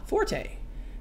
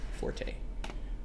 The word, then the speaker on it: forte: Italian word meaning loud Forte when referring to ability the correct pronunciation is Fort but in music it is always Forte there you go not